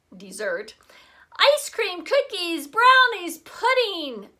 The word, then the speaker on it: Mount Desert: called Mount Mount Desert she pronounced it desert actually dessert ice cream cookies brownies